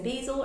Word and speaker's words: basil: some pasta there's some basil or basil on the top depending on how you say it there's also some tomato